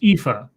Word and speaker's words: Aoife: Jim Healis says it's pronounced Aoife. That her name is pronounced Aoife. Okay, Aoife.